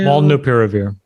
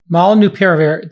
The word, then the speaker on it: Molnupiravir: Pronounce the name of it. It's Molnupiravir. Molnupiravir.